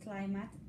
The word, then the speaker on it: climate: Yeah, this is interesting because some words when you learn them like this climate, you are not supposed to read it again wrong because you already know that it doesn't say mate.